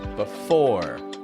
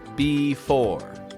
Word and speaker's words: before: Words about placement of things like before, behind, below. Don't pronounce the E in the beginning. I don't say it like before, behind, below, but before, behind, below.